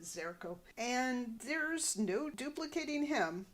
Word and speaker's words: Xerko: Mindy asks why this Xerox would want to come here. Mork says, no, his name is Zurko. Or maybe he pronounces it Zerko.